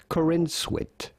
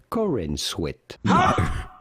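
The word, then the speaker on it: Corenswet: name hang on how do you go about pronouncing his name David Corin Swit David Corin Swit is that really how you pronounce his name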